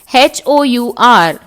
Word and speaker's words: hour: Now children, we all learnt that HOUR, where it is starting with H, but the sound when we say it, it is hour. H is silent.